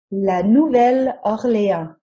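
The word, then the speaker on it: La Nouvelle-Orléans: english translation of the city's original french name la nouvelle orlea note the name in french is literally the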